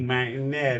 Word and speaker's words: Martinello: Any Martinello. Yeah. It's gonna be hard to look me up. I'm incognito. Spell it for Martin.